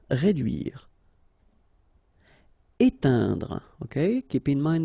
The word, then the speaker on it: réduire: Réduire. Okay, try to insist on this U here because it can be quite tricky. Réduire. Réduire.